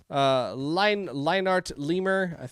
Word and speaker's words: LineartLemur: This was called Leave Me Alone by LineartLemur. Is how I should have actually pronounced that earlier, but I didn't.